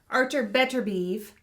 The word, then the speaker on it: Artur Beterbiev: Artur Beterbiev.